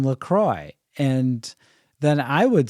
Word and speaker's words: LaCroix: Roy and I said don't you mean lacronics and she said uh no I mean Lacroix and then I would